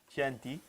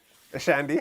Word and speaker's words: Chianti: How do you pronounce this? Shanty. Shandy. Shanty. Shandy. Shandy. CHIANTI. CHIANTI. Shanty.